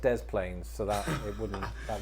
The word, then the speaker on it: Des Plaines: in the illinois city of the plains it's pronounced des plaines so that it wouldn't that wouldn't work also